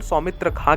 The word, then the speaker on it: खान: Surname का उच्चारण सौमित्र खां के रूप में होता है, लेकिन स्पेलिंग के चलते खान लिखा जाता है।